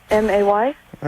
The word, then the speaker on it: Maya: M-A-Y? All right, then what if you put an A at the end of M-A-Y?